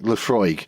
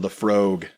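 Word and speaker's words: Laphroaig: I wouldn't go with like Lefroy, for example. Lefroy is incredibly too far the other way. Never heard it pronounced that way.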